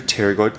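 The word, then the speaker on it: pterygoid: and this is your teroid process now technically it starts with the p but the p is silent so the teroid process is on each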